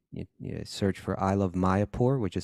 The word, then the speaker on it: Mayapur: YouTube and you you search for I love Maya poor which is spelled m-a-y-a-p-u-r I love my airport which my